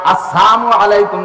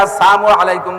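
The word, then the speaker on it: السلام عليكم: আসসালামু আলাইকুম ওয়ারাহমাতুল্লাহি ওয়াবারাকাতুহ সালামটা দেবেন শুদ্ধ কইরা আসসালামের লামটা যদি উচ্চারণ না হয় আসসালামু আলাইকুম যদি বলে নবী আলাইহি সালাতু সালামকে ক্রিটিসাইজ কইরা কাফেররা আইসা আসসামু আলাইকুম বলতো সাম মানে মরণ সাম মানে গজব সাম মানে বিপদ সাম মানে ধ্বংস সাম মানে ক্ষতি তুমি ক্ষতিগ্রস্ত হয়ে যাও।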